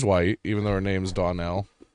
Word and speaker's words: Donnell: She's white, even though her name's Donnell. Some say that it's pronounced Darnell, and I was like, "There's no R." That's racist. There's no R in that word.